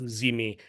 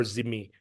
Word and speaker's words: dhimmi: You will be treated as a tolerated group, as in the term in the early Islamic period was dhimmi, and in the Ottoman Empire would have been pronounced zimi or zimmi.